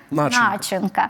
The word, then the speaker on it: начинка: українською це буде загадка є в російській мові слово начинка в українській мові це буде начинка є звісно і у